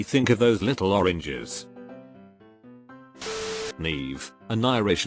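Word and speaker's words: Niamh: always makes me think of those little oranges Neeve an Irish name for Girls It's pronounced NE and their there are several variations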